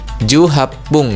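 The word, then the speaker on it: 十八分: Nah, jadi untuk eh 18 ini ketika untuk menyebutkan menit maka kata hacinya tadi diubah jadi hapung ya. Jadi juapung gitu untuk menyebutkan menit ya 18 menit gitu.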